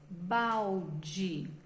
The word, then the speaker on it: balde: Então, por exemplo, agora, ó, com essas letras aqui, nós vamos formar a palavra balde. Só que a gente fala balde, mas escreve balde.